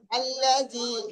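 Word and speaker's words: الذي: আল্লাজি, এ দেখেন, এটা আল্লাজি ওয়াসবিসু, আমি বানান করে দিচ্ছি, সকলে দেখেন।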